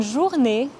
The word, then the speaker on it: journée: Le son « et » à la fin du mot « journée » est similaire au son « a » en anglais, mais en plus court. Bonne journée.